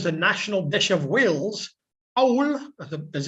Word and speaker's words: cawl: Number 3, often described as the national dish of Wales, cawl, as it's pronounced, is a soup or stew made most commonly with which meat?